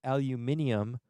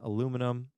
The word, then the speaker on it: aluminium: that by the way if you've heard aluminium that is also a correct way of spelling and pronouncing aluminum that's more of a british english version of it but that's totally fine if that's how you learned it so we have